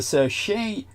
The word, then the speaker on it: Seychelles: Right here you see the Seychelles Islands is actually the correct pronunciation.